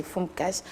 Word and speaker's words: Foumkas: Voilà, j'espère que j'ai bien prononcé. Foumkas. Oui, c'est Foumkas.